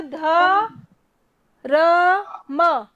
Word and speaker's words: धर्म: करता है रख ऐसा कर रहा है तो ध र म धर्म और जल्दी से बोलेंगे तो क्या हमारा